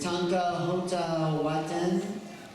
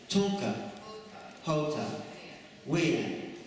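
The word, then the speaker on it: Tunka Hota Win: And Barbara is Tanka Hota Waten. No? How do you say it? Tunka. Hota. Wien.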